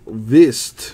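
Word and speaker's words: Kvist: William Vist from Denmark. I think the K is silent on that.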